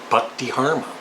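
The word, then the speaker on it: Buck Dharma: From Blue Oyster Cult, I would choose the very underrated guitarist and songwriter and singer, Buck DeHarma.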